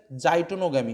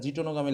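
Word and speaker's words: geitonogamy: যাই, এটা যে তোমার অ্যাকচুয়াল উচ্চারণ হচ্ছে প্রিন্টিং মিস্টেক আছে, এটা হচ্ছে জাইটোনোগামি হবে, ঠিক আছে? জিটোনোগামি লেখা রয়েছে।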